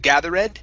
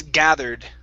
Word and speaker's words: gathered: is gathered okay so watch the ed instead of gather red it's gathered gathered good good all right